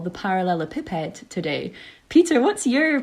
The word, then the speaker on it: parallelepiped: an unusual one yeah I had someone um wildly correct me one time that it should be par should be parallel a pip head um and then I'm